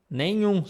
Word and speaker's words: nenhum: Okay, this one is also very simple because in English you have this beautiful word, moon. It's the same pronunciation here. Moon, algum, nenhum. So here we have the number one. If I would write for English speakers, I would write like this. Like the same sound as moon.